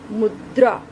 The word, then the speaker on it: मुद्रा: अगर हम इसका उच्चारण करें, मुद्रा, मुद्रा, यहाँ पर र की ध्वनि किसके बाद आ रही है?